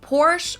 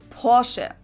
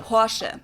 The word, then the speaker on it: Porsche: I've heard Americans pronounce it Porsche or Porsche. In German, we say Porsche. So there's like this short E sound in the end. Porsche.